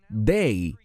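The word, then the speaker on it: δεῖ: Hay una palabra griega de solo tres letras, se pronuncia day en griego y se refiere a algo que tiene que ocurrir.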